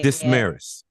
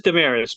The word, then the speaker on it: Desmarais: Actually, it's Damaris, but they go by both because it happens a lot. It's a difficult name to pronounce.